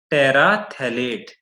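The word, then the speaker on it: terephthalate: हम बोलते हैं पॉलिथीन पैरा एथलीट इसमें जो यह पीएच है वह साइलेंट होता है प्रनंसीएशन में समय से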